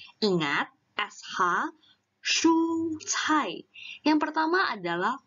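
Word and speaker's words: 蔬菜: Ingat, SH, 蔬菜.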